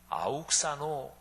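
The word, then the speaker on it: αὐξάνω: 헬라어 발음으로 하면 아욱사노 이렇게 발음이 되는 동사예요.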